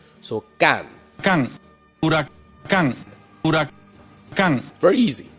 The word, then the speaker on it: Huracán: the word drop th first thing you do drop the H break it up into two pieces of three letters three letters in each group you are a C a.m.